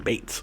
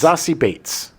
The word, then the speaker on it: Beetz: I'm a big fan I really like Zazie Beetz. I think she's Hopefully I'm saying her name correctly. Apparently it's you were saying Zazie, right? You were saying It's Zazie Beetz.